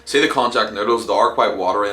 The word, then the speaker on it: konjac: I'm nearly sure that it's pronounced Konjac noodles, that's the way it's spelled anyway, so I'm going to roll with it.